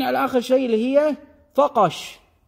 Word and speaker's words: فقش: اخر شيء اللي هي فقش بعميتنا ننطقها بالقاف التميميميه قاف وعلى فكره كذلك كلمه